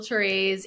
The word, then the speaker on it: Therese: herself thank you yes my name is teres and I'm a certified nutrition consultant and I